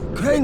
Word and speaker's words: Crane: name is crane okay crane rhymes with train and brain and same and gray and rain and plane and the other kind of plane and and how can